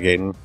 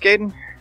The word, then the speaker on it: Gaiden: it's like a ninja gaiden which I always prompt gaiden apparently that's not right is it pronounced Kaden yeah and I accept that